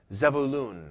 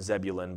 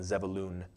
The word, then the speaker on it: Zebulun: And that would have been pronounced Zevulun. A little different than Zebulun, but I don't know if I can get used to saying Zevulun.